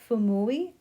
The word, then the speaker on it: Fuumuui: It's Fuumuui, I think is how you pronounce it, Fuumuui Art, and I will put it across the screen there too.